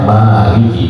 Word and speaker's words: Maliki: adalah Maliki yaumiddin ya saya M bacanya Maliki Ya tapi kalau malikias tidak dipanjang emnya malas Walaupun ada yang mengatakan